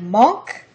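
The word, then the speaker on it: Munch: century German expressionism are the Norwegian artist Edvard Monk and the Belgian artist James ensor monk is spelled Ed well his first name is spelled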